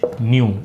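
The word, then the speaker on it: ν: Okay, इसका pronunciation कैसे है, जैसे न्यू हम बोलते हैं उस तरीके से है।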